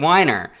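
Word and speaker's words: Winer: It's spelt Winner, but might be Weiner. Dave Weiner? No, it can't be. Podcast. I'm your host, Brian McConnell. Dave Weiner. See? It's Dave Weiner.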